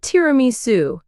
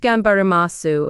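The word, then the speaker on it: 頑張ります: here for 12 years what would it be genbari masu tiramisu Francesca laughs not tiramisu it's pronounced gambaramasu and it means trying your hardest to achieve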